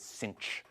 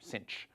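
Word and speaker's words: sinh: we usually pronounce this cinch uh so in in American English as if there were an extra c in there cinch um so okay so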